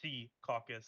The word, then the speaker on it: Secaucus: I found an article where the mayor was like, "It's Sea Caucus." I'm like, okay. and I said it. I said it right. Sea caucus. Yeah. Can you say it with a Jersey accent, please? Secaucus.